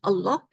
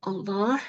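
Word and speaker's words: الله: I urge you to say it slowly so that you say the name Allah uh clearly and correctly Allah not Allah the name of the Creator is Allah so we should say it correctly Allah and then we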